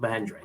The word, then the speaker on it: Mahindra: Is that the correct pronunciation? That's the correct Mahindra.